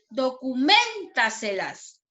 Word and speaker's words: documéntaselas: La siguiente palabra, documéntaselas. Documéntaselas. ¿Dónde sonó más fuerte? En la sílaba men, ¿cierto?